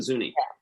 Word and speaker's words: Zuni: talk about and that is the is it zuni you pronounce it yes the zuni why are they particularly a challenge for the